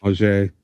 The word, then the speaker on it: Auger: Manuel saying it's pronounced with a J, so it must be French. Yeah, it's French. Auger.